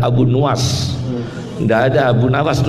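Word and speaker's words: Abu Nuwas: Jangan baca Abu Nawas, yang benar Abu Nuas.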